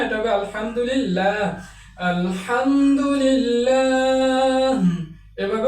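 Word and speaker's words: الحمد لله: আল্লাহ শব্দের আগে য রয়েছে এলামটাকে পাতলা করে উচ্চারণ করতে হবে কলিল্লাহুমমা আলহামদুলিল্লাহ এটা আলহামদুলিল্লাহ হবে না এটা হবে আলহামদুলিল্লাহ আলহামদু এভাবে উচ্চারণ করতে হয়।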